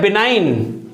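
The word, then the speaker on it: benign: है एक वर्ड है बिनाइन जैसे कि इसको भी अगर हम बोले तो बिनाइन ही निकलता है ये जी की आवाज नहीं आती इस लेकिन सही स्पेलिंग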